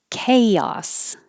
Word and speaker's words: chaos: esquire esquire anarchy anarchy chaos it's a good example of a ch so is anarchy the ch sounding like a k chaos chaotic chaotic and